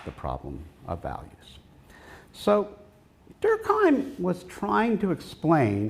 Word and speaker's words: Durkheim: talking to about uh Emil durkheim uh to use my basically American pronunciation of his name um he took this